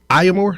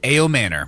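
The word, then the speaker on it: Ayomanor: I think Eric Amore, is that am I saying it right? A Manor.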